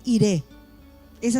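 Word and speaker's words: Jireh: tendríamos que decir es adonay ir esa sería la frase correcta noire sino Ire es la pronunciación correcta y Qué quiere decir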